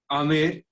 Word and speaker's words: Amer: The Amer, pronounced Amer, is at a distance of about 11 kilometers from Jaipur.